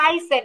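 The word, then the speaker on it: heißen: দ্বারা আসলে কি বুঝাইতেছে হাইসেন এইচ ই আই থাকলে বাক্যের মধ্যে আমরা কিন্তু আই এর মত উচ্চারিত করি হাইসেন হাইসেন আর এস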